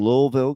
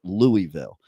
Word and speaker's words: Louisville: in in Louisville Kentucky I I keep trying to say it right I think I'm saying it right now but probably not uh like I grew up with Louisville but I have to learn how to put that invisible L into the word okay uh but the